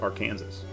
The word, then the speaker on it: Arkansas: the river is pronounced arkansas don't know why just is possibly because the river actually starts or runs through kansas maybe that's why anyway english is a